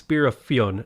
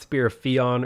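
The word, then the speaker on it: Spear of Fionn: the spear of fion if you're wondering how to pronounce it it's spirafion not spear theon or beautiful there is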